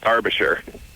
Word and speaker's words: Derbyshire: It's actually pronounced Derbyshire.